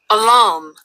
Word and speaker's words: alarm: alarm alarm alarm al 우리는 이제 알람식에 이렇게 하는데 영어 바로는 알람이라기보다는 얼람이에요. 다시 한번 잘 듣고 따라서 해 보세요. 알람보다는 얼람 해야 돼요.